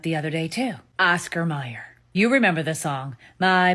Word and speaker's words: Mayer: My baloney has a second name, it's M-E-Y-E-R. M-E-Y-E-R, right? Meyer. No, nope. Apparently it's spelled M-A-Y-E-R. Wouldn't that make it Mayer? Like May, M-A-Y, Mayer. What the fuck? Go check your bologna and your hot dogs. It's not M-E-Y-E-R. It's M-A-Y-E-R. Why have we been calling it